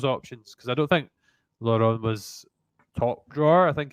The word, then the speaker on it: Lauren: Was it just pronounced Lauren?